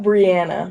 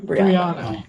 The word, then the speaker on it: Briana: Did I say it wrong? Not Briana. Briana. That's it.